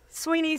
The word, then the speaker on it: Swinney: Sweeney spelled like Swinney.